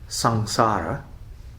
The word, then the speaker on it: samsara: this word which maybe you're familiar with called sangsara samsara pronounce sang emerged before the french made it